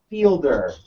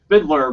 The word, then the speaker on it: Fielder: is your name uh Fielder yes I mean it's pronounced Fiddler but it's yes I'm